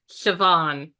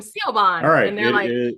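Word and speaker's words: Siobhan: o b h an spells wait for it sioban oh oh okay that's how you pronounce that okay yep I learned that sadly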